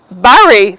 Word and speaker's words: bury: Or did you bury the dead sparrow? No, that's not right. You need to say buried. It's the same as in strawberry.